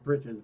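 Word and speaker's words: breeches: to say it bres it's Brites but it's spelled breaches but again why is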